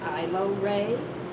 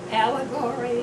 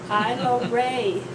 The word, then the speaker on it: Ailorae: I went through school everyone tried to pronounce the A and it was allegory or allery or whatever and finally in 11th